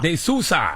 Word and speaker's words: De Sousa: Did I pronounce that right? De Sousa. De Sousa.